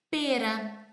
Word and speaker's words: pera: Verdinha, com formato assim, que a gente chama em italiano e em português pera. Mesma fruta, se escreve da mesma forma, P-E-R-A.